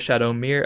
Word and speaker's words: Shadowmere: some competitive play is Shadow Mir or shadowme I'm not entirely sure how to pronounce this card chat corrected me and said it was Shadow Mir apparently he's from the